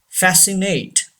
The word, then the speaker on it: fascinate: Fascinate. Say this word. Fascinate. C is silent.